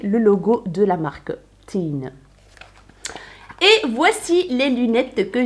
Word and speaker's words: TIJN: Et alors, quand on ouvre, donc ici vous avez hashtag Tane Eyewear, ça s'écrit T-I-J-N, on Instagram to share the story of your eyes, de partager l'histoire de vos yeux.